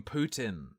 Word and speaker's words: Putin: believe you got to call him Putin which is how it's said I believe and you'll see stickers